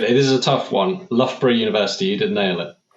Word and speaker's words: Loughborough: He holds a master in engineering and systems engineering from the Loughborough University, as I was told it's pronounced.